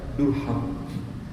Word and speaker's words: Durham: baca tulisannya aja bingung tulisannya durham bacanya gimana oh darham itu kalau yang baca orang angloakson kalau orang Scotland bacanya durham tetap gitu ya ada teman